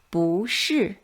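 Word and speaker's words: 不是: to address is 不 It changes into the second tone when it's followed by a fourth tone syllable. For example, let's read 不是不会 Very good.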